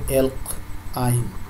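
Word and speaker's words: alkyne: তাহলে যোগ করলে অ্যালকের সাথে যদি আইন যোগ করা, উচ্চারণ হবে অ্যালক আইন।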